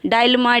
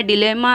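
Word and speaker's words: dilemma: डायलेमा, डिलेमा, अलग अलग तरह से प्रोनाउंसिएशन होता है इसका, आप कुछ भी बोल सकते हैं।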